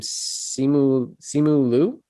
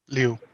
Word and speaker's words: Simu Liu: superhero lead, and I don't know how to pronounce the actor's name. Simu Liu. Liu. Okay. Liu.